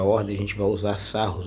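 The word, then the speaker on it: Sarrus: a gente vai usar sarros ou sarrin né como alguns costumam pronunciar mas na matriz 4x 4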